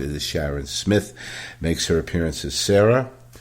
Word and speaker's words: Smith: burke sharon smith and apologies to sharon because i sometimes pronounce her name smythe is sharon smith makes her appearance as